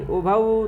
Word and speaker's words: उभौ: उभौ तौ में औ है तो उभौ और तौ दोनों में औ का उच्चारण करें।